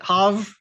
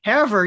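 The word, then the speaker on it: Havre: Now, before we go on, is it Hav? Did I say it right? Or is it Haver? Or like Haver? Okay, Haver uses the ice dome in the off season for pickleball courts.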